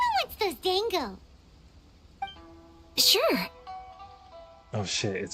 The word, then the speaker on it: dango: haaka p wants those Dango sure oh it's pronounced Dango and not Dongo well no it would be Dango huh uhhuh those look